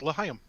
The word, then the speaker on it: L'chaim: L'chaim. Oh, thank you. And I sincerely hope that I pronounced that correctly. And I'm not screwing around. If I remember correctly, I think I did. You did. It's L'chaim.